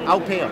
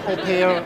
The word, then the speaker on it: Aupeo: Aupeo. Aupeo. But you also can call it Aupeo.